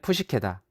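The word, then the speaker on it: ψυχή: 그리스어로 나비는 푸시케다. 영어로는 사이크라고 발음되는데 이 말은 정신 또는 마음과 밀접한 관계가 있다.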